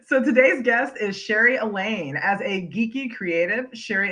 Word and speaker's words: Allain: name i want to make sure i'm pronouncing right elaine yes rhymes with pain perfect okay i may